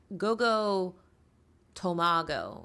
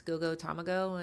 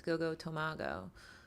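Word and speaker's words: Go Go Tomago: Like, for example, Rochelle of Ravensburger fame pointed out that it's Gogo Tomago, because in Japanese it's Tamago, so people like assume it's Gogo Tamago, and no, it's Gogo Tomago.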